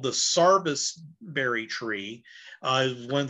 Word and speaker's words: service: tree got its name it is actually spelled service but down there is pronounced sarvis and uh that's how